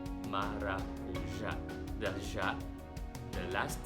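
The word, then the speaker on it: maracujá: So if you can notice the accent mark at the end, the acento agudo, accent marks in Portuguese denotes where to put the stress in the word, which syllable should be stressed.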